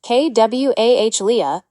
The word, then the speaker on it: qualia: Qualia, pronounced kw ah lea is the philosophical term for the raw, subjective, felt experience of being something.